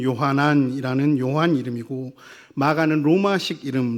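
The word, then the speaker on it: יוחנן: 여러분들이 잘 아시다시피 마가복음의 저자인 마가 요한은 그의 유대식 이름이 요한, 히브리어 발음으로는 요하난이라는 요한 이름이고 마가는 로마식 이름, 로마의 아주 흔한 이름인 마르코를 뜻하는 이름으로 마가라고 불렸습니다.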